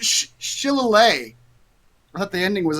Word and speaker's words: shillelagh: I think you pronounced it wrong too. I just looked it up. Shillelagh.